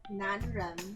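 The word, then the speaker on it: 男人: 男人. Can you say that together? 男人. 男人人. 这 Do your R's, you gotta roll up. Your tongue has to hit the roof of your mouth.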